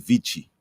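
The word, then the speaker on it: vici: Venidi Vichi. It's same one. Yes. I came, I saw, I conquered. I think the C in vichi is pronounced as if it were ch.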